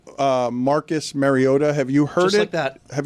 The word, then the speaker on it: Mariota: Marcus Mariota. Marcus Mariota. And the internet was just like, "This can't be right." And then but they replay. That's not how you say it. On NBC's broadcast, they do the starting lineups where the players say their name. So you hear Marota now saying his name. Marcus Mario. No, he's saying it wrong.